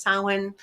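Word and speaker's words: Samhain: It looks that samine, but it's actually pronounced sin.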